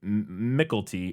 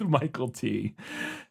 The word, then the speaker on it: Mykelti: And I assume the pronunciation for that Michael T. on the internet said Mickelty or McKelty, but then when I went to an interview with him, the interviewer said Michael T. and he didn't correct them, so I'm going with Michael T.